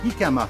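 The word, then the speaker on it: jícama: produit que j'ai acheté c'est le hikama ça s'écrit gikama mais ça se prononce kikama donc c'est un tubercule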